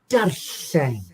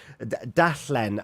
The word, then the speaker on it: darllen: But darllen, and you got an R in front of it as well. If you can roll your R's, darllen.